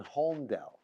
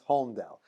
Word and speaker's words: Holmdel: So they said, no, you hear the lamed.